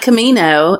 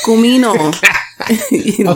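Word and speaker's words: comino: It's not Camino. It's Cumino.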